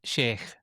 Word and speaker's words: Shaikh: Shaikh, pronounced Shaikh.